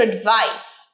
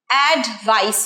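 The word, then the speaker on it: advice: প্রথমটা I need your এডভাইস অ্যাডভাইস নয় অ্যাডটা ছোট উচ্চারণ হবে বলো এডভাইস এডভাইস আরেকবার এডভাইস এডভাইস রাইট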